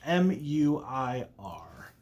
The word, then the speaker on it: Muir: M-U-I-R. I would pronounce it as Muir. Muir. Like in the Ghost of Mrs. Muir.